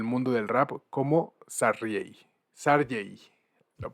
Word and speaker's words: Sardey: Sarjay, lo pronuncié bien, ¿no, David? Sarjay, así es, así mero.